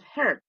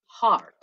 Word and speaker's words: heart: at the human heart the pronunciation is not hurt it's hard the human heart is